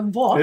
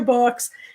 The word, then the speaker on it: Vooks: And I'm assuming it rhymes with books. So books. It's probably books.